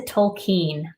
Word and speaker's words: Tolkien: to law school and I've been saying this man's name wrong my entire life it's by j.r.r tolkien listen tokine I don't know why